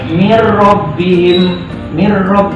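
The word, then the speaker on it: من ربهم: Contoh misalnya min rabbihim, seperti itu. Cara bacanya adalah mir rabbihim tanpa berdengung.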